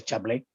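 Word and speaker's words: Chablais: En el 15.4, el tirocinio de la misión en el Chablis, o creo que se pronuncia Chablé, y el Dami Ánimas de Don Bosco.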